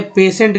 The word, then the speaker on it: patient: ये जो है पेशेंट का अंग्रेज स्पेलिंग है, लिखा हुआ मैंने पेशेंट, जिसमें टी